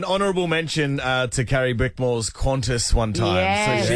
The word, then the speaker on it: Qantas: Hey, John, an honourable mention to Carrie Bickmore's Qantas one time. Yes. So she Yes. pronounced it Quunti.